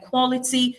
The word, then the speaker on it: quality: The answer is bachelor, because bachelor and quality share the same characteristic of having the stress fall on the first syllable.